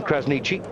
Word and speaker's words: Krasniqi: And by the way, it is how you say his surname, Krasniqi. That's how Luan says it, and that's good enough for me.